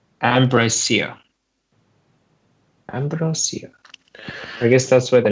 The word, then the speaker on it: Ambrosia: Aristeos and Ambriosa. Ambrosia.